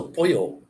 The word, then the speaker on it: pollo: When you get two L's in a word, it's like a Y. So pollo.